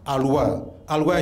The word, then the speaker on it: Alois: But now the name Alois, you don't pronounce it Alois, it is an Austrian word, you pronounce it Alois Schumpeter.